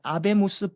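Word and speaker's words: Habemus: 그걸 라틴어로 하면 이제 아베무스 빠밤이라고 합니다. 하베무스. H는 묵음이니까. 아베무스 빠밤이라고 하거든요. 우리에게는 교황이 있다.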